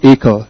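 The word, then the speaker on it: Achor: The Happiness Advantage The Happiness Advantage by Shan AER s h a w n a c h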